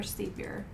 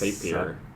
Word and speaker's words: Sapir: Is it Sapir or Sapir? Like Tapir. I think it's Sapir.